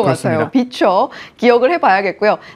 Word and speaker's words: VCHA: 지금 본다면 VCHA, 저도 이렇게 읽었었는데 이것을 비춰라고 읽는다 하더라고요.